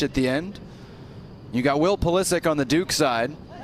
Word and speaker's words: Pulisic: You got Will Pulisic on the Duke side, who opts to pronounce it a more Americanized way.